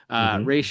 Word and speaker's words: Ra's: But we'll be calling him Ra's because we can't help it. So and that's literally what he's called right. The entirety of the run of the DCAU. Right. The character himself pronounces it that way. So at least in this universe. Exactly. Arrowverse be damned, or Nolanverse be damned. He's Ra's in this one.